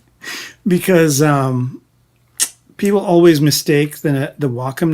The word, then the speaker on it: Wacom: But the correct pronunciation for those of you that give a shit is Wacom, and but it was a